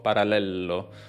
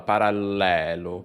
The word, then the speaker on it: parallelo: 0 ok dice parallelo parallello parallello quindi qua per pronunciare bene la parola abbiamo prima una doppia para parallel e poi una elle singola parallelo sembrava una strana universo